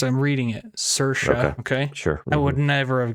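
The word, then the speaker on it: Saoirse: it was a k yeah her name is cersa that's how you pronounce I'm reading it sersa okay I would never have guessed that's how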